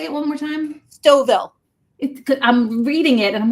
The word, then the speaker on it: Stouffville: Stouffville. I'm reading it and I'm like, I want to pronounce it that way.